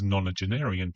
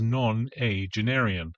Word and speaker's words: nonagenarian: narration, although she mispronounces nonagenarian twice. I had to rewind it the first time as I just didn't understand her. She pronounces it as non-a-genarian, as opposed to nonagenarian.